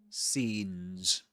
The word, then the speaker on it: scenes: Scenes with a long e sound. Scenes. Um that's a long e sound. And the two dots represent indicate that it's a long sound.